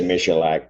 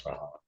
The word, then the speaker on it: Mahalik: I was going to say Michalak, but I know it's Mahalik.